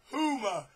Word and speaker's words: Huma: some way that his wife her name is huma that spelled h-u-m-m-a and it's pronounced huma but when you see it it it looks